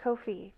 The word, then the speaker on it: Ko-fi: Ko-Fi is how you pronounce it.